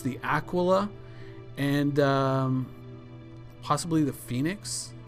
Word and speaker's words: Aquila: when I called them Akila I was informed quite emphatically that it is an Italian word it's pronounced Aquila it means eagle and it is not pronounced a Aila like it's tequila so